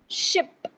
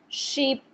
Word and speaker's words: ship: Ship. Do not stretch this sound. Sheep. This is incorrect. आप इसे क्या पढ़ेंगे? Ship. Keep the sound short and relaxed.